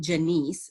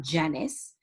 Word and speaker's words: Janisse: i appreciate it and i appreciate your name being pronounced like my mother's name janiece not janice and we clarified that